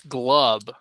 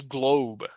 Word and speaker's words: globe: I'm inclined to pronounce this glove as in glove. It's wrong. This is globe, globe, globe.